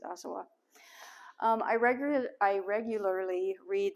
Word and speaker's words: Asawa: are inspired by ruth asawa and as i understand in japanese you don't put any emphasis on this syllable so i hope i'm pronouncing her her name correctly ruth asawa i regularly i regularly